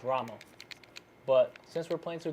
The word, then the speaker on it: Ramo: made this famous listen the two key community knows him by rainbow right but it's actually pronounced Rama but since we're playing